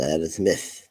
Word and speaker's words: Aerosmith: Então tem que falar caprichado, Aerosmith. Aerosmith. Silva. Nossa, eu às vezes pronuncio assim, tipo, quando a gente aprende, é